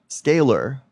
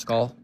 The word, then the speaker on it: scalar: When there's a vowel followed by a letter followed by another vowel, the second vowel makes the first vowel say its name. That's why it's pronounced ska a scaler. Scalar.